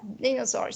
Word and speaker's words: dinosaurs: Yes, dinosaurs. So the first syllable is the stressed one.